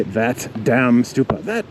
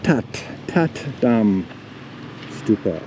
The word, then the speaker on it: That Dam: it says THATDAMSTUPA, but we don't say that damn stupa. That damn stupa! Ah, that damn stupa! No, it's Tat Dam Stupa, I believe. Tat Dam Stupa should be the correct pronunciation, or something like that.